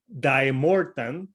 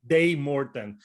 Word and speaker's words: Daemorthan: today i got a band from holland called di morton did i say it correctly almost how do you say it dave morton day morton and i have uh miquel uh who's the